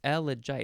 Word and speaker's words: elegiac: But it's elegiac. It's 4 syllables, so you'd have to go elegiac, elegiac, elegiac.